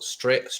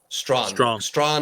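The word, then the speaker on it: Strachan: You've got your boy Michael Straight. How am I pronouncing that again, Alex? Sorry. Strawn is there.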